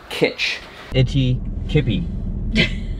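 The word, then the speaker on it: Kitch-iti-kipi: Which is pronounced, my phone's in the car, but I know unequivocally it's K-I-T-C-H. Kitch. Itty Kippy.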